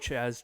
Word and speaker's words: Jazz: I said Chaz, didn't I? You're saying Chaz Chisholm. Yeah, I said, you're giving him 2 C's so that way you don't say any of the J because you usually Chisholm.